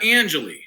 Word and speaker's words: Angeli: I don't like butcher it out oh uh Angelie Angelie is that Italian yeah yes it means